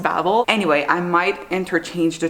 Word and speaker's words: Babel: So I think I said initially that this was called Babel, but after reading it, I'm pretty sure it's pronounced Babel.